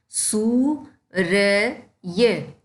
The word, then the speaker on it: सूर्य: होता है ठीक है और यह जिस अक्षर के ऊपर लगता है उससे पहले इसका उच्चारण होता है यह य के ऊपर लगा हुआ है और यह बोला य से पहले जाएगा सू र य सूर्य ठीक है ऐसे ही